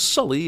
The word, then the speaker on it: Sully: still called Native Americans why does she pronounce his name is su Lee when she just heard him say it was Sully and she hasn't ever